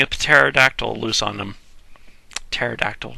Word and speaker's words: pterodactyl: pterodactyl loose on them pterodactyl why do i keep trying to pronounce the p pterodactyl and that's how he